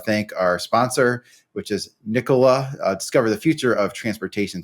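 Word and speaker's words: Nikola: um want to thank our sponsor which is nicolah discover the future of Transportation today visit Nica's website and explore their zero emissions Class 8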